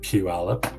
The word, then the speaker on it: Puyallup: and Puyallup that is in that's how you pronounce that by like Puyallup uh this one had a price reduction I